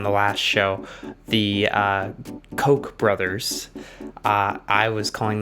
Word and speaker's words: Koch: the same last name k-o-c-h and they pronounced it cuck so they were the cox but these are the cokes the cokes the koch